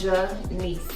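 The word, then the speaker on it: G'Nece: It is Janice. Janice. And then I normally don't go out Quari.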